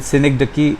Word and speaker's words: synecdoche: Metonymy, metonymy, metonymy, and synecdoche is spelt as synechdoche, synecdoche.